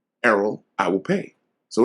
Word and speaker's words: Errol: and she called me Earl she was like Gladys his name is Errol his name is spelled e-r-r-o-l his name is not e-a-r-l you will call him Arrow he was like well